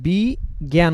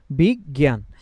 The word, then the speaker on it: বিজ্ঞান: এটা ভুল হবে কারণ এখানে তো আমরা বি জ্ঞান উচ্চারণ করি না আমরা কি উচ্চারণ করি একটু দেখেন তো বিজ্ঞান কি বলি আমরা বিগ জ্ঞান এবং এখানে অক্ষরের মিলের ব্যাপারও আছে যে প্রথম গ যেটা এখানে উচ্চারণ হওয়ার কথা সেটা ব এর সাথে আগে উচ্চারিত হবে যাই হোক এত ডিপে